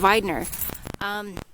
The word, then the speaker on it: Widener: Now, why this is important, this last name Widener, pronounced with a V and not a W, that's a relation to my husband's side of the family.